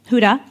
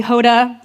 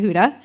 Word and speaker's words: Huda: could pronounce it anyways people would call me Hoda Honda Hooters not sure how some of those names are similar to Huda but I was done